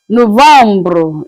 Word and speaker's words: novembre: November is pronounced as Novembre. Then the last one is December.